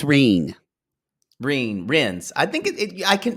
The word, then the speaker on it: Wren: It should be pronounced Ren, but where I'm from, y'all say Reen. Well, it actually should be Reen because it comes from German. Yeah. So it should be Reen in German.